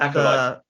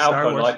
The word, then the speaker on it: Acolyte: It's Acolyte. Acolyte. Not Alcolite. You obviously need a drink if you've gone Alcolite.